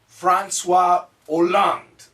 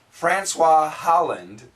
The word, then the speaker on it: François Hollande: François Hollande, or as Americans would say, Francois Holland, that would be the typical American pronunciation, is the new president of France.